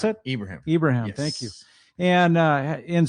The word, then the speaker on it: Ibrahim: How do you pronounce it? Ibrahim.